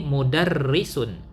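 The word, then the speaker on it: مُدَرِّسٌ: Nah, perhatikan ini ada harokat di bawah tasydid ya. Begini harokatnya di bawah tasydid. Ini harokat kasrah ya. Disebut juga harokat kasrah. Jadi cara membacanya di sini mudarrisun.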